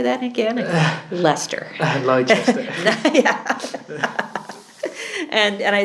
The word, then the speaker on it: Leicester: everybody goes how do you say that again Leicester and and I said and if you haven't